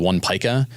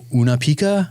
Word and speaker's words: One Pica: My last business was called One Pica. Nobody could pronounce it. All right. They were like, Una Pika? I'm like, no, we're not Pikachu.